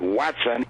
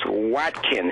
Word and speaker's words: Watkin: Craig told him, he said, my name is not Watson, it's Watkin.